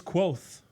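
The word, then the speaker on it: Kvothe: a person wait listen it's quoth is spelled k-v-o-t-h-e but it's pronounced nearly the same thing as quoth which is q-u-o-t-h-e okay that's why it's quoth got it i can't say cloth it's not quad it's basically quoth got it yep okay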